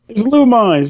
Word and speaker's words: Lumines: I was like, you guys, it's Lumines.